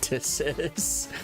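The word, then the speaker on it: Ptilopsis: Telopsis. That's how you use the P is silent.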